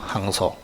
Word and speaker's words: 항소: 항소. 발음해 보세요. 그래. 황소하는 사람이 있어서 황소가 아니고 항소.